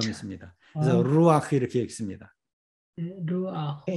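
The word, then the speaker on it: רוּחַ: 후음은 그 밑에 또는 그 앞에 아음을 갖는 경향이 있다고 그랬죠.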